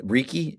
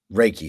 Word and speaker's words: Reiki: I mean cuz cuz as I'm looking here I mean say Ricky is it is that how you pronounce it? Reiki.